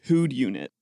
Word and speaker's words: whodunit: The title on the box just says Who'd Unit. Okay, can you spell that?